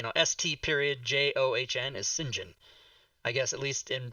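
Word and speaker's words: St John: that in print and sinjin is the british pronunciation of saint john and that bothered me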